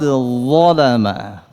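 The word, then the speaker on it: ظلم: Demikian pun huruf dha. Apa ayatnya tentang dha? Faqad zalama jangan ada unsur desisnya salah karena dia dimiliki oleh zai. Zalama faqad zalama.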